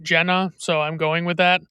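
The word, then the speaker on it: Gena: I had to look it up because it's spelled G E N A, which screams Gina to me, but everyone pronounces it Jenna.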